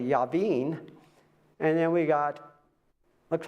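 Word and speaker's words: Jabin: So in our class we got Jen but he's actually Yaveen and then we got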